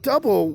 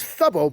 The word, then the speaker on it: Dubbo: But Dubbo was thought to be a mispronunciation of the local Wiradjuri word Thubbo. So people thought it was Thubbo, but he just called it Dubbo.